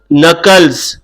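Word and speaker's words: knuckles: तो इसके लिए नाम है cracking नकल्स। Cracking नकल्स। नकल्स में के साइलेंट है, ये नोट कर लीजिए।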